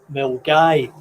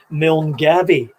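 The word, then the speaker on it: Milngavie: you could divert to a place called milgai some would those who are not familiar with it would pronounce it milne gabby which would uh result in a roar of laughter from the the locals anyway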